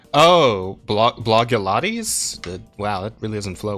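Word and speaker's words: Blogilates: just again huge numbers blog leades is pronounced as Blog plus Pilates oh blog blog yotes wow that really doesn't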